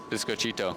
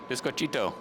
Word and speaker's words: biscochito: that we ate today biscochito yeah there you go it's not that hard the key is to remember there's cheat in there biscochito yeah yeah I've been